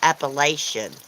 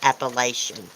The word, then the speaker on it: Appalachian: A lot of people say Appalachian. It's not Appalachian. It's Appalachian.